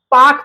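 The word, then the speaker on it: park: British English में हम आर का जो है कि प्रोनंसिएशन नहीं करते हैं। आर का उच्चारण नहीं करते हैं। जैसे इसे पार्क पढ़ते हैं। नॉट पार्क।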